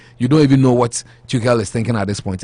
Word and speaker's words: Tuchel: Ken Frederick say German pronunciation of the Chelsea manager is Tuchel.